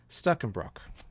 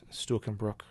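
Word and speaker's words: Stuckenbruck: How do you say his name? Stuckenbrock, or at least that's if you pronounce it woodenly. Stuckenbrock.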